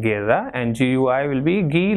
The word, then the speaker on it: guerra: So gato, goal, and gusto, and gue will be gay like in guerra, and gui will be gi like in gia.